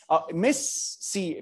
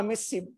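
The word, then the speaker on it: MIS-C: فاحنا عندنا الكوزاكي احتمال وفي اللي طالعه جديد اسمها ايه بقى ميس سي. في ناس بتنطقها ميسي بتاع الكوره، لا لا هي اللي هو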